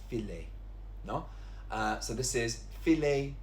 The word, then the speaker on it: filet: Now, this word here is pronounced filet. We have an English word which is fillet with a double L, but here it's pronounced filet.